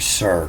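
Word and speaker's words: שַׂר: You can see the little dot above the S here. It means it's just pronounced S, not sh, but sir.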